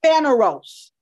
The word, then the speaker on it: phaneros: And the first word is called phaneros. Phaneros is spelled P-H-A-N-E-R-O-S.